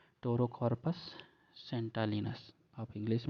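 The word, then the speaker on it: Pterocarpus: तो टेराकॉर्पस को भी कभी ये पेट्रोरा कॉर्पस भी पढ़ते हैं क्योंकि आगे पी है, उसे साइलेंट भी पढ़ लेते हैं।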